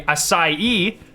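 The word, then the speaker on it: açaí: just released a brand new focus flavor blueberry acai that's how you say that by the way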